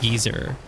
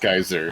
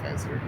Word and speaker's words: geyser: It's not pronounced geezer. No, that would be like an old person. No, it's pronounced geyser.